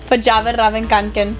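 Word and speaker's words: Fjällräven Kånken: And like, obviously, I murdered it, and he's like, "No, you pronounce it Verjavenravenkanken." And since then, like, I don't call it a backpack. I call it my Verjavenravenkanken.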